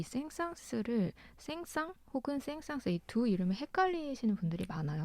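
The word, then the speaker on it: Saint-Saëns: 말았던 사람이 사실 이 생상 쓰름 생상 혹은 생상스의 a2 이름 헷갈리시는 분들이 많아요 그쵸 한국에서는 흥이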